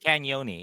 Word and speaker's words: Cagnoni: I was taught how to say it last week. Cagnoni, yeah. Cagnoni, thank you. It's like cannoli, yeah.